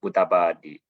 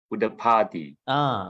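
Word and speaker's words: udapādi: You say B. Oh, It's not B, it's P. udapadi. Great.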